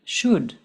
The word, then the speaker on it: should: We do not pronounce the L in the word should.